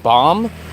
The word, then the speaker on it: bomb: the N is silent the B is silent just like the H